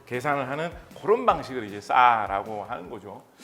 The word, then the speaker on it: SAR: SAR을 이제 싸라고 읽는 거거든요.